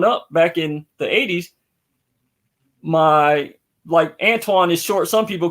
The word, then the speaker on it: Antione: Like, even when I met you, with all due respect, you know, everybody mispronounces my name. I've been called Anthony, Antoine, sometime, but Antonio, Antone, Anthony, Anthony. Right. Pronounce it. It's Antoine. Antoine.